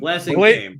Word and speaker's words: Blasingame: Blasingame. Blasingame.